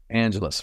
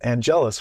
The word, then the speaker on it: Angelus: Well, going back at it with Marsters playing Spike, he calls Angel Angelus, right, instead of Angelus, which is how it's pronounced in just about every other episode.